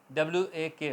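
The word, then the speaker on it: walk: आएगा तो ल नहीं बोला जाएगा आवाज आएगी वॉक वॉक की वॉक नहीं होगा का ल के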